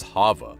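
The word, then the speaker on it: חוה: not wrong just confusing Eve pronounced as Hava Hava can either mean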